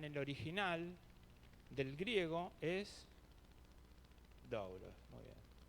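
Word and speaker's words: δοῦλος: Y la palabra en el original del griego es doblos. Muy bien. Creo que se pronuncia dulos.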